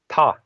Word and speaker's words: Tha: Like those are the M is silent. The th. It's the difference between ta and ta. It's sort of aspirated. You have a like you breathe out a little bit when you say it, and then that apostrophe is just a silent suffix that isn't pronounced at all.